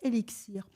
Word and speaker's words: LXIR: CEO de la start-up élixir alors ellixir ça s'écrit l XI R pour ceux qui voudrai